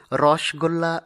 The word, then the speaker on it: রসগোল্লা: রসে ভরা গোল্লা, এটিকে আমরা অনেকেই রসগোল্লা উচ্চারণ করে থাকি, কিন্তু এটির সঠিক উচ্চারণ হবে রসগোল্লা। আবার অনেকেই নামতা উচ্চারণ করে থাকি, কিন্তু এই উচ্চারণটি সঠিক নয়, সঠিক উচ্চারণ হবে নামতা।